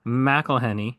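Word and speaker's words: McElhenney: Philadelphia is an American sitcom created by Rob meleny yes that is how you say it and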